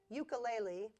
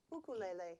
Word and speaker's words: ukulele: the United States say cuckoo lately because that is the way they pronounce it in Hawaii okay can we try